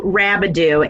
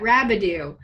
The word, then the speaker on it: Rabideau: well and it's Rabideau and I always say it you know pronounce it like scooby Doo and you'll never forget it yes there you can say that rabidue there we go great